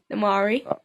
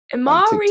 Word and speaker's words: Imari: underscore atari underscore ferrari amari atari ferrari that was all the things that people would rhyme with my name when i was a kid amari atari ferrari actually